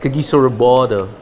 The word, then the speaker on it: Kagiso Rabada: That's how Pollock pronounces it, no? The South Africans pronounce it. Kagiso Rabada.